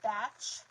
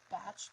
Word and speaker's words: Bach: some people call it batch um um I say Bach because I'm from the U.S but in the UK I believe they pronounce it batch b-a-c-h so this is